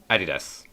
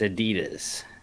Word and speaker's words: Adidas: Adidas. It's not how you say it. It's Adidas.